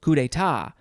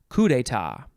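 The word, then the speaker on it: coup d'état: pronounce it wait no you can emphasize the last syllable kudeta or emphasize the first syllable coup d'etat noun from 1646 it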